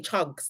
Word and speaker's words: Chugs: Yeah, I say it like a Nigerian, not for real. Oh my gosh, guys! I actually say it like a Nigerian. It's like Chags. Okay, Chugs.